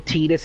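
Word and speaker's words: Tidus: she'd found out that it was actually tetus and not Titus and that was she was saying it wrong and this was actually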